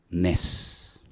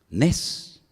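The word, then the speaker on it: נס: Nes. Nes.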